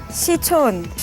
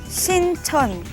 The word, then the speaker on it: 신촌: Your pronunciation was off. 시촌. Nope. 종합운동. No. No. You're on the right track. It's just the wrong pronunciation. 신촌. Correct.